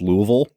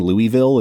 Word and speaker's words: Louisville: is the movie that taught me how to pronounce Louisville, because there's a whole bit on the plane where he's saying Louisville and she's saying Louisville.